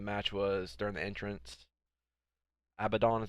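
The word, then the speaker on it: Abadon: Abaddon is how you say it.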